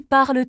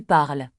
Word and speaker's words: parles: Tu parles très bien. Il parle avec Camille. Nous parlons ensemble. Vous parlez français ? Il parle beaucoup. Attention à la prononciation. On ne prononce pas le S de Tu parles et non le de il parle.